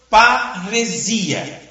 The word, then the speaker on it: parresia: É a palavra parresia.